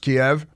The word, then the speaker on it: Kiev: You know, Russia, in theory, hasn't worked out for them so far, roll into Ukraine and get into Kiev, which is still pronounced Kiev.